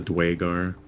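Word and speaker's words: Duergar: I always want to call it Draugr. Yeah, I do too. But I kind of like the way they say it, the Dwagar.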